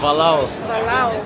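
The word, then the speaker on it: Bolhão: Ça se prononce Balao Bo.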